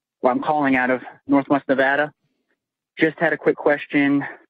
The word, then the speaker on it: Nevada: Apparently, I've always been mispronouncing Nevada. I've been calling it Nevada, and they get real bitter. Apparently, it's Nevada.